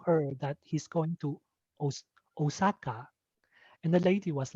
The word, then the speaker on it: Osaka: and osaka it's the the japanese pronunciation is osaka is long and the international is flat jack simpson was telling